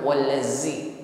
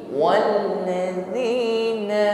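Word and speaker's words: الَّذِينَ: Huruf zal tidak berdesis, bukan wallazi, tetapi walladzina ma'ah.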